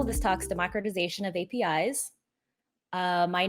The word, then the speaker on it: API: cover hard-hitting topics like how do you pronounce api you can see the vast majority 82 percent do pronounce api api but i think the 12 might be coming from latin america or i think folks in western europe might say appy so if you're going